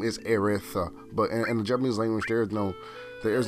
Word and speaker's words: Aerith: other iterations of the game her name is pronounced erith and reason why that is because in the goblins language there is no matter her actual name is erith but and japanese language there's no there's no